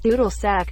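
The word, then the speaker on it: Dudelsack: bag makes me giggle doodle sick pronounced doodle sack German word for bagpipes Uranus also doing planets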